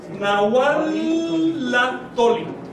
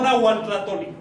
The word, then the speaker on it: nahualatoli: Si vas a componer esto, dices nahualatoli. No nahuatlatoli. Decimos nahuatlatoli en español, un agua no lo hubiera podido pronunciar porque no estaba en su lengua.